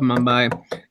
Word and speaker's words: Mumbai: In a study to determine the average wage of working people in Mumbai, is that how you pronounce it? Mumbai. Mumbai, there we go.